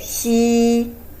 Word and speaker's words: xi: I could hardly find a good match for English pronunciation, so you might try to feel this pronounce to compare it with she. There is a little bit difference between these two, but a little bit similar to she.